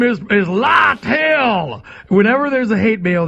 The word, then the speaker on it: Lytle: No, my name is Lytle. Lytle. And by the way, I wish it wouldn't, because every time somebody sends a piece of hate mail about me, they always say his name is Lytle, like Lytle, and they print out LIE-TELL.